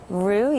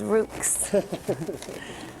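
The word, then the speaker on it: roux: Rue. Yes. And you actually said it right. Everybody here says Ruks.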